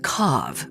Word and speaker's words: cave: snagged by his parents wine cave they pronounced it kav which made Chad and